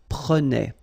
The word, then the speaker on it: prenait: Prenait. All right? So same thing here, final S not pronounced. Je prenais, tu prenais, il prenait, final T not pronounced, so the same form, okay?